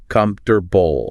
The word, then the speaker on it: comfortable: Don't pronounce every letter. Just say comfortable.